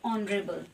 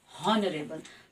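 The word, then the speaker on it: honorable: वो ये है कि वी से ऑनरेबल नॉट हॉनरेबल। तो हमारी स्पेलिंग में तो एच आता है लेकिन हम उसके पहले एन ही लगाते हैं क्योंकि हम उसके उच्चारण, साउंड या प्रोनंशिएशन पे ध्यान देते हैं।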